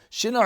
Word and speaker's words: Shinar: Shinar, I think is actually the way you pronounce it.